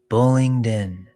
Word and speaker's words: Bullingdon: Bullingdon. The oldest records spell it Bullsden in 1179.